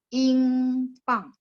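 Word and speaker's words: 英镑: Kalau pound sterling, Ingpang. Bacanya pang. Ingpang itu pound sterling.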